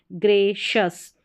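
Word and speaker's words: gracious: फिर यहाँ पर है GRA, GRA को ग्रे पढ़ेंगे, GRA को ग्रे, और फिर शस, ग्रेशस।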